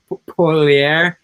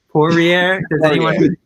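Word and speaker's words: Poirier: tough name to say i got some crap for uh saying the mma guy's name wrong there paulier pourier because you know you were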